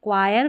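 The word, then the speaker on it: choir: यहां पर आप इसको च नहीं पढ़ेंगे। सी को ही पढ़ेंगे। क और एच यहां पर साइलेंट रखेंगे। क्वायर, कोरस, कैरेक्टर, एक्वर, केमिकल में। चलिए नेक्स्ट देखिए।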